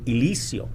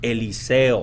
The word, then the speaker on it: Eliseo: he goes by elizio a lot of teachers growing up and like i said in a hispanic rural community would cause pronounce my name elisio right because they would not be able to pronounce eliseo right so it's it's important